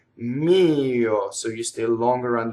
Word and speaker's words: mio: Mio is like io with an M before it. Mio.